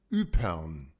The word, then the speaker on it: Ieper: Upern. Hang on. Say that again. Upern. Upern. Upern. So the Y is pronounced U, and then to me that looks like Pern, P-E-R-N, Upern.